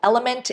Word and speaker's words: LMNT: recommend is this one called element it is spelled out as l m NT and this specific colored